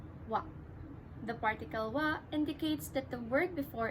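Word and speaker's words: は: You should also note the spelling of the particle wa, that it is spelled as ha in hiragana Japanese writing, but you should always pronounce it as wa.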